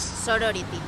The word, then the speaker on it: sorority: Sorority. Sorority. Sorority. Sorority. Sorority. Aquí ya sabéis que las T's no existen. No se Como pronuncia. Water, water. Pues lo mismo. Sorority, sorority.